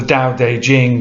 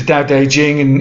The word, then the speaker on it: Tao Te Ching: via something called the Tao Te Ching, which is spelled T-A-O, separate word D-E, and then Jing, J-I-N-G.